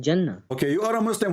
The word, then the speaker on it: Jannah: So how you are telling me how to pronounce the Arabic word? Because I'm a Muslim and it's always said Jannah.